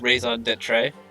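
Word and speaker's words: raison d'être: how to pronounce this i've heard this before it's raised on dead trey now you pronounce it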